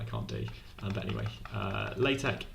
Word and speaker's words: LaTeX: take but anyway uh latex with is pronounced at the end it's like a Kai Greek letter it's a fancy